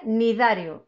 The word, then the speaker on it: cnidarios: que son los cnidarios fijaos cómo se escribe tiene una fe y una n y luego y darya bueno pues se pronuncia unitario nos olvidamos de la cedh pero sí que la escribimos vale para ser correctos desde